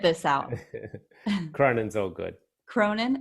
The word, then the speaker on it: Cronin: Cronin, how do you say it?